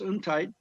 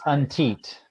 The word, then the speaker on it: Untiet: um la's faith and community relations director untight is that how you pronounce your last name very close tom uh it's untit pronounced the e antique okay he grew